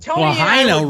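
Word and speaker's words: Lahaina: Lahina rhymes with vagina.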